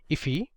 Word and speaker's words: IIFE: function expression or iife which is often pronounced as iffy you can also use